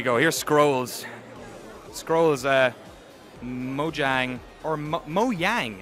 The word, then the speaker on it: Mojang: here's Scrolls Scrolls uh Mojang or Mo moyang everyone's calling it moang I guess that's how you actually pronounce it I I I had